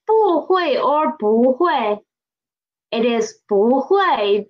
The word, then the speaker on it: 不会: It is 不会 because of the tone sandy of 不. Tone sandy of 不. When 不 is before a fourth tone syllable, it will change to second tone.